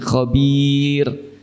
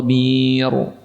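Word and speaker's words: خبير: Huruf "r" terdengar tipis, "bir" terdengar tipis, "bir". Mengapa tipis? Karena sebelum "ra" bunyinya adalah "i". Ini, eh, cara mudah untuk mengingatnya. Jika setiap kali sebelum huruf "ra" bunyinya adalah "i", maka huruf "r" dibaca tipis, seperti di sini, "khabir". Jangan ucapkan "khabir". "Yaumaid khabir" itu salah.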